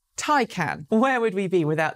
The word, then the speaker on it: Taycan: Well, for months now, I and many others in the industry have been calling it the Porsche Taycan. But apparently, according to Porsche, which released a new video this week teaching everyone how to say the name, it's Taycan.